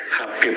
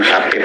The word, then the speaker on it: Habib: Nah, Habib ini secara bahasa itu adalah bahasa Arab yang sebenarnya membacanya kan bukan Habib tapi Habib ya, Habib ya, dan itu memiliki arti yang dikasihi atau yang dicintai.